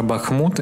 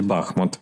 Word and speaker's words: Бахмут: Кстати, как-то я говорил про Бахмут, и мне поправили и сказали, что правильно говорить Бахмут. Нет, друзья, посмотрите Википедию, Бахмут. Даже когда президент Украины поздравлял новогоднюю ночь, я обратил внимание, когда он тоже так же ударение поставил Бахмут.